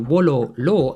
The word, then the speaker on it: Wololo: Add the fact that V's were pronounced as W's and you get that Wolo law actually means I want him.